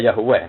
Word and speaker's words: Yahweh: Jadi ejaannya Yahweh.